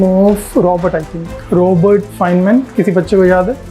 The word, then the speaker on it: Feynman: Uh Feynman, correct. It is spelled as F E Y N M A N N, but then also I'll call it Feynman technique. Actually, he's one of the physicist and a Nobel Prize winner.